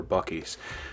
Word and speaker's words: Buc-ee's: All right, guys, obviously we're at Bucky's, so sorry.